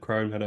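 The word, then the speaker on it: Croud Meadow: against Rex at the crowd Meadow is that we said is that we say that's how you say it yeah crowd Meadow yeah um let's just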